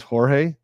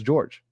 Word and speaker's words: Jorge: somebody mentioned that actually he preferred that his name be pronunciated as George so that's why we're